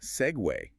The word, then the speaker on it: segue: Usually English words ending in "gu", like vogue, vague, or league, they rhyme with beg. Right, but segue is pronounced segway.